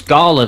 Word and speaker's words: Gala: indie gala. It's L. It's L. It's L. No, it's I. It's L. Oh, it's Gala then.